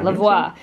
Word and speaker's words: Levoit: Yeah, Levoit.